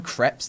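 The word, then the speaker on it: crêpe: People always come up and say, is it crepe or crepe? We're like, well, they're both listed in the dictionary, both pronunciations. It depends where in France you come from, actually, but you can say it either way.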